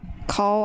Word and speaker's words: Call: Call. I keep wanting to read this cow, but it's pronounced call like phone call is like so human